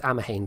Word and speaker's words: Amhain: Apparently it's Amhain, by the way. I was saying it wrong the first couple of times.